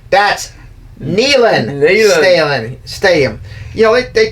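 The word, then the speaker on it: Neyland: know somebody asked as asked him how he pronounced his name he said nean like my knee thing I like that and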